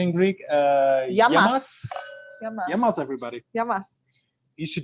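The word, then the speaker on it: γειά μας: Yamas.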